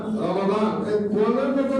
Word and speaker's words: রমাদান: 2 নম্বর, এই রমজানের উচ্চারণের বিষয়ে একটা আমি কোরআন শিরোষক এটা একটা কথা বলবো। এটা রমাদান মিমের উপর জবর, আবুল সাহেবরা ওলামায়ে কেরাম জানেন মিমের উপর জবর, আল্লাহ শহরে রমাদান, রমজান না রমাদান।